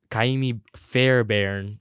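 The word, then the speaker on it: Ka'imi Fairbairn: Kaimi Fairbairn with 13.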